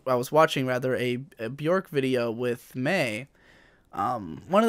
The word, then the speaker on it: Björk: You probably know Björk, as she is more commonly known, but it is pronounced Björk.